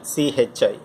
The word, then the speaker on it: chi: Having said that, we have a new parameter called magnetic susceptibility, which is represented by chi. So this symbol is a Greek alphabet and pronounced as chi, C-H-I, chi.